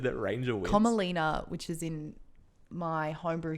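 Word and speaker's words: Komalina: You say her name was Thumbelina? Comalina, like a Komodo dragon.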